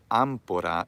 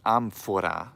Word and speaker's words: amphora: who's reading this that it's not ampura it's amphora with an F like you spell it